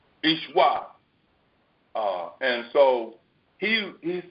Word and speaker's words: Yeshua: the time, they go, Yeshua. When in reality, it's not pronounced that way. It's Ishwa. Ishwa.